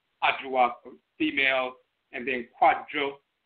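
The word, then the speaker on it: Kwadwo: That's Ajoa Inakan, female Abosom governing Monday Joda, Ajoa for female, and then Kwadjo for male, sometimes pronounced Kojo and so forth.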